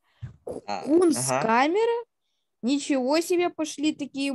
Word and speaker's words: Кунсткамера: Он сказал Кунсткамера. Просто ударение неправильно поставил. Он не Кунсткамера. Он Кунсткамера. Кунсткамера?